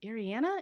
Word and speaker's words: Ariana: you pronounce your name Ariana Ariana Ariana like Ariana Grande okay Ariana Grande okay